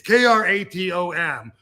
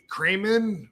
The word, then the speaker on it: Kratom: It's Kratom. Kramen? What? That's how that. Yeah. Crayola. But they don't know. I can spell it, but I can't say it, bro.